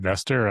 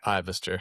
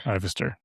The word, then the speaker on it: Ivester: Uh the most common you usually get Ivester, which may be actually the original pronunciation, but I'm southern so it's just I Cool.